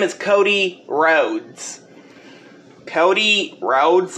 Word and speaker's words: Rhodes: people drive cars on his last name is spelled r h o d e s oh